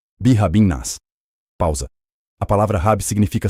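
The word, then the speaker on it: بِرَبِّ النَّاسِ: Vamos separar. Brabi. Pausa. Anas. Pausa. Ligando. Birain nas.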